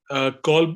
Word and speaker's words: Kolb: Your Kolb, what's it? Am I pronouncing it right? Kolb Learning Style Inventory? Say it again. Kolb Learning Style Inventory that you use, KOLB.